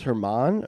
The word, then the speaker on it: Germán: It was Herman, or was it? Yeah, Domingo Germán. It's spelled German. German, yeah.